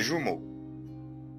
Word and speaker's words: jumeaux: Il a 13 ans comme les jumeaux. Les le U تنطق U يبقى les jumeaux. Comme les jumeaux. Comme les jumeaux. تمام. فال E A U تنطق O. jumeaux.